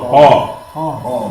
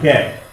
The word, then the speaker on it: ق: No, qaf. It's a heavy letter. Qaf, not cat. It's what they call open mouth or full mouth.